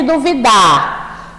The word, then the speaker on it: duvida: Então, aqui o que diferencia na grafia é o acento e a pronúncia também. Aqui é duvida e aqui é dúvida, não é mesmo?